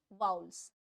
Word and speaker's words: vowels: 5 होते हैं वाउल्स, जिसको आप वॉवल्स बोलते होंगे मे बी। अगर नहीं बोलते हैं तो बहुत अच्छी बात है, अगर बोलते हैं तो करेक्ट कर देती हूँ pronunciation. So its correct pronunciation is vowels.